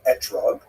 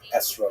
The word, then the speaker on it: etrog: We all know that the correct fruit to bring is an etrog, or esrog in the Ashkenazi pronunciation, but it doesn't say so in the written Torah.